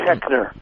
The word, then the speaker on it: Koechner: Keckner.